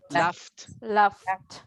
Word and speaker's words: laughed: You can say laugh, laugh, laugh, laugh, laughed, the T.